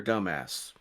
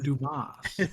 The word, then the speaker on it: Dumas: Senator Dumbass. What a terrible Sure. name. Dumbass. Or it could be Domas. a mix Yeah. from the names. Pronounced Dumas.